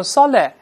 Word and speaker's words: solid: 去爆破，不能读成 solid， solid，舌头不做动作能